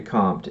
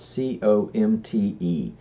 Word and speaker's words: Comte: And the first of the 3 stages, according to Comte, is what he calls the theological stage.